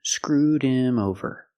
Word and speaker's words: screwed him over: pronunciation screwed him over with him the H is silent because him is not an important word we don't stress the word the H is silent screwed him screwed him link The Sounds they screwed him over